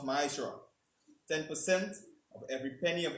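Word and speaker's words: מעשר: It means tenth in the Hebrew and is pronounced ma'ashra.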